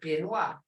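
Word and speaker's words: penwv: See, you can almost hear that P in there, Benoit. Benoit and Benoit. Between that, it's almost in between. You're not saying it both words. You're not exactly saying P, you're not exactly saying B, but you're in between that.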